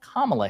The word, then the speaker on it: Kamala: because she has been told like hey it's pronounced Kamala Harris and she said on CNN I'll call her whatever the hell I want her to I I'll say Kamala Kamala right so rich coming from someone who's like